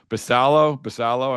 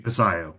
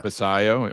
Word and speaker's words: Basallo: Basallo, I'm pronouncing his name correctly. Basayo, but yeah. Basayo, okay, sorry.